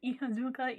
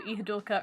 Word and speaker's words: Ihadurca: It's Ihadurca Imela. Also, she's another one. They spell it with an R, but they pronounce it with an L.